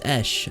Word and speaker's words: Eshe: So, this is Eshe.